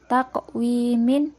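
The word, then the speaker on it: تَقْوِيم: ada kalimat takok Win Taqwim di sini ada huruf qaf yang berharkat sukun Nah tadi huruf kok termasuk huruf Qalqalah kan Jadi dibacanya harus di pantulkan selanjutnya ada kata khalaq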